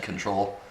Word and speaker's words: CNTRL: that was control again cntrl is how they spell it said control from Toronto yeah they